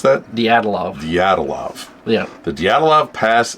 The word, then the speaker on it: Dyatlov: Now, you how do you pronounce that? Dyatlov.